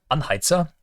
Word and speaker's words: Anheizer: Oh yeah, there is good old Anheizer, as you have to pronounce him. That's absolutely mandatory. There's no way around it. He has to be called Anheizer.